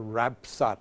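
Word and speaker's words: Rapsot: debate was a Jasper Rapsat. It's spelled in the document R-A-P-S-O-T, but we know that name as Rapsat from Nottingham, from out of that end of the island.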